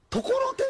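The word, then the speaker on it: 心太: んあのな心が太いって書いてそれところてんって読むねんそうです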